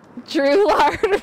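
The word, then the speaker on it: Drouillard: I know how to properly say these, but Drew-lard Road. I-double-L is pronounced with a Y sound.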